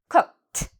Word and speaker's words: cooked: Cook is a verb. It ends in a K. So we have here, it's on our list of when to pronounce ED like T. Cooked, the ED becomes a T sound.